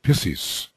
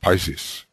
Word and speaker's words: Pisces: astrologer Mark Edmund Jones calling it Libra and also pisses instead of Pisces he was not a man to make mistakes the pronunciations were probably quite legitimate but I'll stick with the ones that we have been using and DK begins here